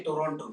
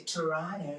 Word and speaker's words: Toronto: I know you're a foreigner because we don't say Toronto. We say Toronto. We don't pronounce the second T.